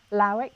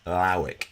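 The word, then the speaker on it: Lawick: I mean, getting to work with Hugo van, how do you pronounce his last name? Lauwijk. Lauwijk.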